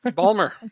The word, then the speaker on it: Baltimore: the least hey but you gotta say it like a local what Palmer Baltimore Balmer that's how the people in Baltimore say Baltimore um let's see